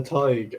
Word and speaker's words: Tadhg: because some people spell Tig as Tadgh, but then some people spell it as Tadhg, which is how I spell it.